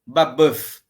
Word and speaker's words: Babeuf: que ganham força com Graco babeuf tá B AB u f Graco babeuf na o Buzz é o pronúncia francesa não é aquela um e o que vira quase quase o um o meio enfim E aí procure na